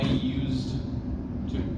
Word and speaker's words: used to: current habits and then we don't pronounce the d right it's never I used to I used to at least so you